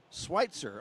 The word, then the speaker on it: Switzer: message from Doug says Switzer is with a long I Switzer okay well thank you